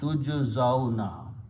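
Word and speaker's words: تجزون: So when you pronounce this, you do not pronounce this ya, this is just a sound letter. So this becomes tujzauna.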